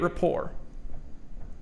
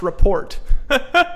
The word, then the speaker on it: rapport: I used to actually call this report. What? Anybody ever pronounce it like that? Report? You know, you're a little dyslexic or ADHD too, and you look at that and you're saying it's a report, like a school report.